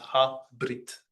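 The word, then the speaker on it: הברית: But in this case, the schwa is silent, so it's just ha brit.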